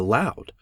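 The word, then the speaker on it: Locke: did not know that Lo is pronounced in only one syllable till many years after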